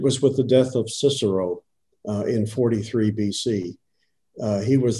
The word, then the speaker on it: Cicero: Okay, so just to be clear for all of us that fell asleep during history class, his name is Cicero. Yes. Okay, I think I pronounced his name wrong before that.